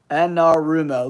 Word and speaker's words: Anarumo: new defensive coordinator Lou how do you say his last name anaru anarumo anarumo Lou anarumo that's that's a fun name